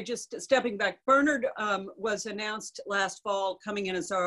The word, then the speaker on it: Bernard: Bernard. It's the Irish pronunciation.